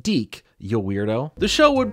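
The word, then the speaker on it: DiC: it was on, just being the start of Deke Entertainment's involvement in Mario content. Yes, this is pronounced Deke, you weirdo.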